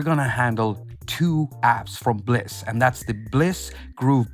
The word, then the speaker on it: BLEASS: Bleus black blasts pleeeease so first it's pronounced bliss which is kind of